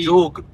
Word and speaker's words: Jog: हां जोक हां जोक वैसे यहां पे जोगा बोलते हैं ये लोग जोक वैसे तो जे ओ जी ये इसका प्रोनाउंसिएशन जो होता है पर यहां पे जोगा बोलते हैं यहां के लोकल लोग और यहां पे बेसिकली